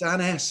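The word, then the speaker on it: Annes: It's Anne S, actually. Anne S. Okay. It's down as Anne in the promotional material, but actually it's Anne S. It's a typo. So when you met Anne S, and she was auditioning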